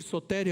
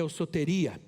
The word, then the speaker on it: soteria: ouço teria tanto faz o grego não tem acento então a gente faz uma transliteração da palavra pode ser soteria aos o teria essa palavra é a